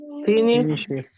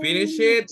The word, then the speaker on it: finished: Finished. Wait, it's not finished it.